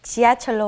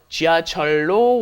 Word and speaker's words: 지하철로: It is an irregular because the lil up against the lil becomes a long L. 지하철로 왔어요.